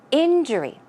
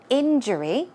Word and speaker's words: injury: practice pronouncing it injury let's check out where the stress goes it goes on the first syllable so it's injury injury okay just just one more time injury good job and the